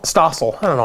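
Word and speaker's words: John Stossel: John Stoffel did a show on everything's illegal. Stossel? Stossel.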